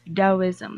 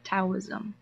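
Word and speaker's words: Taoism: for myself as this is supposed to be pronounced as DSM like with the not taism now generally Lau was is regarded as a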